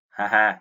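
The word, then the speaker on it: 母: Và âm cưng thì đọc là ha ha đúng không?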